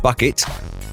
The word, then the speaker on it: Bucket: Her name was actually Hyacinth Bucket, but she'd have it pronounced Bouquet.